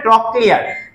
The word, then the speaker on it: ট্রক্লিয়ার: তামাক ট্রক্লিয়ার, ততে ত দিয়ে আমরা ট উচ্চারণ করবো এখানে, ট্রক্লিয়ার।